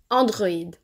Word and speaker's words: androïde: Il sert généralement à indiquer qu’on doit séparer la prononciation de deux voyelles qui sont collées. Écoutez la différence: Mais / maïs, endroit / androïde.